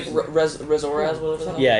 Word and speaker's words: Remorhaz: Did you say Remorhaz, whatever that? Yeah, it's unpronounceable.